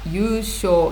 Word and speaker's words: 優勝: 優勝、優勝です。書くときは優勝、でも読むとき優勝、優勝。